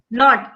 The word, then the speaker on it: knot: The jackal tied their tails in a knot. Not. K is silent.